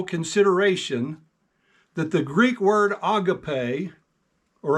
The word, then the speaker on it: agape: for your careful consideration that the Greek word Agape or Agape as some pronounce it as it is used to describe